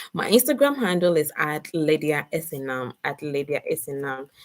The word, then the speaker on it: Lydia: that's a trick yeah ladies my name is Lydia like Lydia like the English lady those colleague